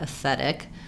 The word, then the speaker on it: aesthetic: So for aesthetic, the S can be short as aesthetic. Maybe thinking about it like I think just practicing moving the tongue forward to the T, aesthetic, or making a little break, aesthetic, because aesthetic is the stress syllable. So the TH needs to be there, but aesthetic, you can hear it won't sound the same at all, aesthetic.